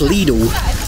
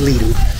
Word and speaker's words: Lidl: I think it's pronounced Lidl, but you guys say Lidl. Lidl. And that's the way we generally do say it in the UK, but I am certain it's Lidl.